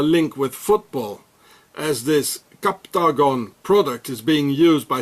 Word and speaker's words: Captagon: so here it says captagon it's like octogon captagon it's the same and every time so here are those captagon pills or capton if you would pronounce it in English and here it says